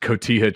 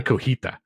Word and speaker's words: cotija: I mispronounced cotija cheese for about a decade. Wait. You know what I mean? Oh, you said cotija? I used to say cojita. Which I think sounds better, but it's I think it sounds better too.